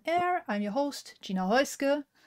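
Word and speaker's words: Häußge: I'm your host Gina hoska this is how you pronounce my last name Noby in there um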